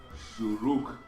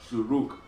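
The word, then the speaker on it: שׁוּרוּק: next to the Shin, that Vav is a oo sound. Ooh sound. So, whenever you see the Nikud on the side or at the top, it is a vowel. It's not, you don't pronounce the V sound with it.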